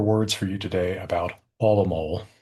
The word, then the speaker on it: Hávamál: A few more words for you today about Hávamál or in modern Icelandic pronunciation, Hávamál. I have been thinking about reading, translating, teaching this poem for a quarter century.